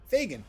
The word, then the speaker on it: Fagin: Fagin. I was right the first time. No, I was wrong the first time. Fagin, correct answer. Or correct pronunciation, I should say.